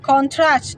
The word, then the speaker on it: contract: Typically, the stress is placed on the first syllable for nouns and on the second syllable for verb. This shift can change the meaning of the word. For example, contract, noun, a formal agreement. Contract, verb, to reduce, insights, or to agree.